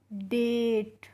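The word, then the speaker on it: date: डेट।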